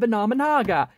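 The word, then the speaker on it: Venominaga: correctly, Venomenon and Venomenaga, it's Venomenon and Venomenaga, get it freaking right, ah!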